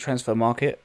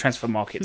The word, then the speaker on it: Transfermarkt: I pronounce it Transfermarkt. I know, but I didn't want to do them dirty because it actually isn't. All they've done is knocked out the final E.